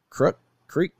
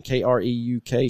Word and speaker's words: Kreuk: It's got Kiefer Sutherland's half brother as the lead, and Kristen Creek. How do you say her name? Kreuk.